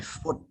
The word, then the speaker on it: foot: foot. Okay, we don't pronounce food, we pronounce foot.